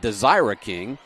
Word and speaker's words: Desiree: This is going to be Desiree King that is jumping. Or I should say, I just looked at my pronunciation guide, Desira King.